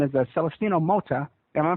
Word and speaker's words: Celestino Mota: and he's from Mexico and his name is celestino Mota am I pronouncing that right yeah that's very good Ed